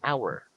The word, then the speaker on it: hour: Remember, some words that begins with the letter H starts with a vowel sound because the letter H is silent. For example, we say an hour, not a hour.